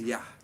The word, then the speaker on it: Jah: The first Anu, or Jah, and yes, it is Yah, but as Nazarians, we came up with the word Jah. That's how we pronounced it, even though there weren't no J in Hebrew. For us, we pronounced it Jah.